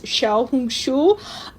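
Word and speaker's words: 小红书: The Chinese pronunciation is Xiaohongshu.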